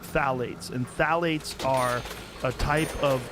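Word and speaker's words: phthalates: the introduction of Fates it starts with a p p t h a l a t e s I think it's how spell it you say phalates and phalates are type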